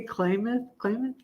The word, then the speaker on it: Klamath: and I pronounce it wrong. I say Klamath. I don't know, but it's Klamath.